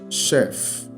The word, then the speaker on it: chef: F sound there okay so let's concentrate on the sh all right so here we are concentrating on the sh sound Chef sh Chef sh all right so let